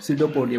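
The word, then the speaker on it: pseudopodia: अपन क्या बोलते हैं, सीडोपोडिया बोलते हैं। जैसे कि यहाँ फिंगर लाइक स्ट्रक्चर को क्या बोला है, सीडोपोडिया। ये यहाँ पर साइलेंट रहता है।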